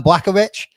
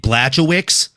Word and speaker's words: Blachowicz: I'm pretty sure it's Jan Blachowicz. Or no, sorry, it's Blachowicz. Blachowicz. Jan Blachowicz versus Carlos Ulberg. Pretty sure that's how you say it.